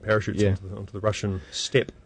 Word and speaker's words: steppe: onto the Russian steppe.